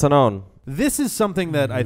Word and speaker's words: Unown: but there's no in there's no K in it yeah so it's Unown this is something that